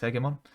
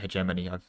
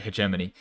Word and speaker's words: hegemony: for the milary heon which is the best heon oh no I I should have pronounced it hegemony I messed up I had this whole thing